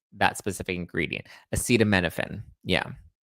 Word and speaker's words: acetaminophen: It's the use of um how do you pron acetaminominophen acetam you pronounce this? Um acetaminophen. Acetaminophen.